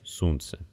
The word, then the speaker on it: сунце: Итак для ударных гласных есть четыре варианта долгий восходящий глава короткий восходящий вода долгий нисходящий сунце и короткий нисходящий песма сейчас большинство носителей не